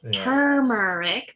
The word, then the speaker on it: turmeric: when you have cancer turmeric there's an r you can pronounce it how it's spelled um is what indians